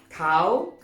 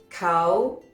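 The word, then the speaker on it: เขา: chan in spoken thai cow is normally pronounced with a high tone cow cow aha next literally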